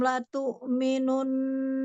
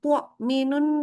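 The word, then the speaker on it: لَتُؤْمِنُنَّ: Yang sekarang udah benar. Karena tadi bacanya agak ke ain. Agak Iya, tuak minun. Nah, itu kan nggak boleh ya.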